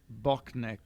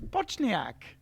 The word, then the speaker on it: Bochnik: And Edward Bochnik. There you go. Yeah. I've been with us. All these years, I thought it was Bochniak. A is silent.